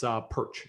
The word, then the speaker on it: Pyrcz: heard from me before, my last name is a bit of a clump of consonants, but you can pronounce it Pyrcz.